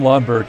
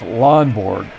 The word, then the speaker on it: Lonborg: on first to Jim lomberg at the plate I keep pronouncing his name incorrectly it's lonborg here we go two two